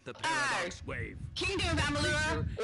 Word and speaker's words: Amalur: Kingdom of Amalur or Amalar? I think it's pronounced. Kingdom of Amalur, yes.